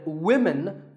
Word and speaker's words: women: you always say often one word that's often mispronounced by learners of English is women this is of course because of the English language is crazy spelling system but remember that we say woman for one woman and women for the plural women word number six is police